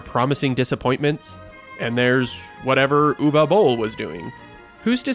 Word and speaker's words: Uwe Boll: My name is UWE Boll it Uwe Boll and not U E or E Z. It's Uwe Boll.